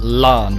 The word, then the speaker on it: Ran: They were pronounced Lan with an L. It was L-A-N as its pronunciation, but it was still spelled R-A-N.